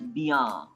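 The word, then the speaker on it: bien: Bia. B for B as ba, like Bombay. Sir, arekbar boardta dekhaben. So ba plus iya, bia. Ba plus iya, bia.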